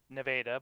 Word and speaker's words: Nevada: I am from uh so it's a place called Nevada, Iowa, which is pronounced Nevada, but it's spelled exactly like Nevada.